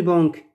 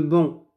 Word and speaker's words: banc: le vent est lourd on ne prononce pas le sait car le bang ce n'est pas une banque c'est le bon voila vous regardez l'image